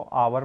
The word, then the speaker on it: hour: देखो HOUR में यहाँ पर एच आया है बेटा, एच को मगर हम हावर नहीं पढ़ रहे हैं, एच साइलेंट है, इसको आवर पढ़ रहे हैं।